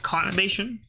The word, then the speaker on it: conurbation: Literally spelled like masturbation, but conurbation.